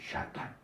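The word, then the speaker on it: שטן: 이렇게 쓰는 사람도 있고 그런데 정확한 발음은 샤탄이에요.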